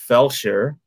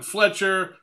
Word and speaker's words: Felsher: So I've gotten Fletcher, Flesher, Fulcher, Felcher, which is not good.